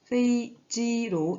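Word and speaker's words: 飞机: 네, 이 부분은 e로 발음이 됩니다. 그래서 페이지로 읽어주시면 되고요.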